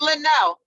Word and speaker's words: Lionel: So it not only says that, and Lionel, am I pronouncing your name correctly? Because it's Linnell.